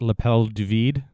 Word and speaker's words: l'appel du vide: Do you ever get that feeling of I think it's actually pronounced l'appel du vide, the call to the void?